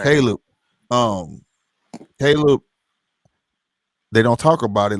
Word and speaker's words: Caleb: I keep calling this boy Khalid because that's how we pronounce it. It's Caleb, man. Right. Caleb.